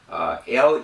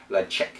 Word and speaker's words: Ledaig: Now that is Gaelic, L-E-D-A-I-G, but pronounced LEDAIG, or LEDAIG.